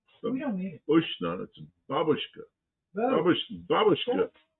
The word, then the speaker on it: babushka: We don't need babushka. And then and the accent's on the first syllable. I know Americans say babushka babushka. And that's a grandmother in Russian.